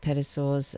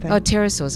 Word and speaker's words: pterosaurs: of documentaries saying that pedosaurs uh is that how you pronounce it pedosaurs or is the is the p quiet is peace parasaurus pterosaurs i'm sorry pterosaurs here